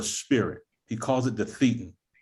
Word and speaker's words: thetan: I called it a Thetan because of that's theta. correct. Thetan is correct.